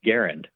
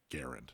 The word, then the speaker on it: Garand: And he said, well, I learned that actually the family they don't pronounce it Grand. They actually pronounce it Garand.